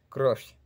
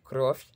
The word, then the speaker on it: кровь: Vemos que Croft termina con V y signo blando, pero se pronuncia como una F.